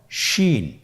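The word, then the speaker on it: شين: শিন। আপনারা আমার সাথে বলুনশিন। আমরা ঠোটের অবস্থান কিরূপ হবে আপনারা লক্ষ্য করুন।শিন আবার বলুনশিন।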